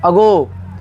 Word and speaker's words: ago: लेकिन AGO इसे क्या पढ़ेंगे, अगो। क्या पढ़ेंगे, अगो। यहाँ पे ए का उच्चारण हर जगह क्या हो रहा है, अलग अलग हो रहा है, ध्यान दीजिएगा।